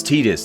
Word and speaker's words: Tidus: Yeah, it's Titus, dude. Don't ever say Titus, or you get your ass kicked.